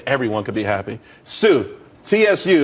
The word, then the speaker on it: TSU: could be happy Sue TSU it's pronounced Sue though that's that's a website.